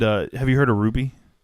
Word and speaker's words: RWBY: called Ruby RWBY Ruby I think that's how it's spelled I just asked if the name yes the name is Ruby uh spelling it in case our listeners would